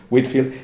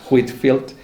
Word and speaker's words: Whitefield: Journals of George Whitefield, aunque se escribe Whitefield, la pronunciación es Whitfield, y de hecho el autor utiliza más veces la ortografía sin la E, Whitfield, porque es la fonética adecuada, ¿no?